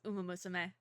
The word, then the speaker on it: Uma Musume: That was a pronunciation. Okay. It's Uma Musume.